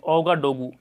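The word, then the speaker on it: Ouagadougou: उसके बाद है अगला कंट्री बुर्किना फासो, जिसकी राजधानी है ओगाडोगू, इसको प्रोनाउंस करते हैं ओगाडोगू और करेंसी यहाँ पे वेस्ट अफ्रीकन फ्रैंक।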